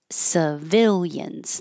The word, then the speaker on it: civilians: This can be sa or si. I used I because the stressed vowel is vi, civil. So you're already higher up than an It's easier to keep that. Civil. Civilians. It's the same I in every syllable.